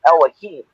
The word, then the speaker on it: Elohim: God's and in Hebrew, we'd be calling it Elohim. Elohim. That's how how you say it in Hebrew.